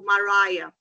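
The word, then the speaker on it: Maraya: de eventos, que é o Mariah, como a cantora, essa é a pronúncia mesmo, pra vocês não esquecerem.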